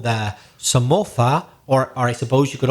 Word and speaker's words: Somoza: There was a famous family called the Somoza, or I suppose you could also pronounce it Somoza, because it's with a Z. And as we know, in Latin America, Z is usually pronounced S, whereas in Spain, some people pronounce it Th.